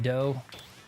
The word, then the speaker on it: 8-Bit Dough: You know, I reached out to 8-Bit Dough. I pronounce it dough instead of do because it's not Nintendo, right?